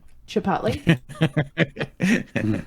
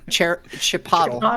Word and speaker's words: Chipotle: what it's like Chipotle the only proper way to pronounce Chipotle is pronouncing it like Aristotle Chipotle Chipotle okay are we ready